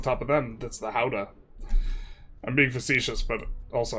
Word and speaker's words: Gouda: How do we pronounce Gouda? I've been told by someone who with a very pretentious and snarky tone that it's how-da. But, uh how-da? That's that's Lord of the Rings, man.